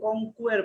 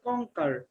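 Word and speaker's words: conquer: নাজা উচ্চারণটা সুন্দর করে করেছে, অনেকে কঙ্কুয়ার বলে, কিন্তু উচ্চারণটা হবে কঙ্কার।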